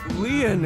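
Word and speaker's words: Lien: My name Lean is spelled L I E N in French.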